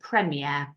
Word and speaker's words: premier: actually but we don't pronounce it prier we pronounce it premere so for example we have the Premier League